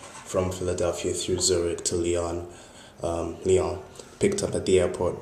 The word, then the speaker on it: Lyon: Hi everyone, Muna here, blogging from Lyon. This is, oh sorry, Lyon, I'm supposed to pronounce it properly.